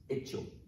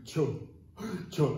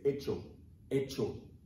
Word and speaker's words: hecho: What you're gonna have in Spanish is hecho. Remember that in Spanish, the H is silent. So you're not gonna say, cho, cho, you're not gonna do that, don't do that.